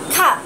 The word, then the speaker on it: calf: Bắp chân sẽ đọc là calf. Calf. Cuối từ này có âm F.